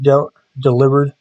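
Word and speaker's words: Delibird: Pine I do like de delivered by the way that is how it's pronounced it's not a delivery bird it's a play on the word deliver sneez is really good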